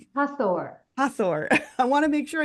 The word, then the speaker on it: Hathor: How do you pronounce it again? Do it again. Hor. Hathor.